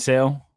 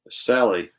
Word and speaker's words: Sale: those are my right am i saying it right what loeb and sale sally sally no it's sale oh don't do that yes yeah sale sale um and i just